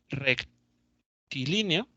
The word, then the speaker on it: rectilíneo: Movimiento rectilíneo que va acento en la primera I. O no, creo que no. No, en la segunda.